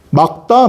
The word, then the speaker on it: 맑다: 발음이 뭘까요? 1학기 중간 지금 배우고 있는 친구들 어머니 발음이 뭘까요? 이게 1학기 중간 범위예요. 막다 말다. 와 날이 참 막다 날이 참 맑다. 막다입니다.